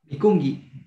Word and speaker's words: mikunki: Al último nomás, Mikungi se pronuncia con la G de gato, ¿se acuerdan?